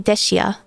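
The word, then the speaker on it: Dehya: I think Dea I still pronounce in the English way because I I know Japanese they say desia.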